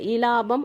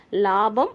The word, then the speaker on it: இலாபம்: ஆனா அந்த இய வந்து உச்சரிக்க மாட்டாங்க. இலாபம் அப்படின்னு படிக்க மாட்டாங்க. லாபம் அப்படின்னுதான் படிப்பாங்க.